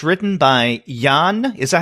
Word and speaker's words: Yann: title in a while and it's written by Yann is a how you pronounce his name yes why a NN in